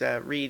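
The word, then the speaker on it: Reid: who played Meg storm read I think is actually her name which I'm mostly just amused by because read even though it's spelled REI D it just makes me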